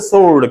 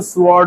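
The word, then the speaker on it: sword: है उसे बोलते हैं सर्ड क्या बोलते हैं सड क्या होती है हां जिसे हम स्वर्ड बोलते हैं तो स्वर्ड में डब्लू आपका साइलेंट है तो क्या बचा सोर्ड सो सोर्ड नहीं थी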